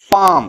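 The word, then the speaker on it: palm: पाम इसको पाम बोलेंगे पलाम नहीं बोलेंगे ये क्या है ये ये तरी है इसको पाम बोलते हैं ये जो एल है ना इसका उच्चारण नहीं होता है ऑफ द हैंड मतलब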